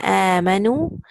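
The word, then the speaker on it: آمنوا: So here, ya ayyuhalladhina amanu. Now here, see the amanu, the last alif, this is silent. You just recite noon, dhamma, and wow. Nu. That last alif will be silent.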